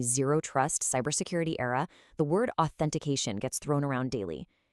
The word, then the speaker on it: authentication: Finally, since we are living in a zero-trust cybersecurity era, the word authentication gets thrown around daily. It requires a very crisp, clear, voiceless th sound to really sound professional.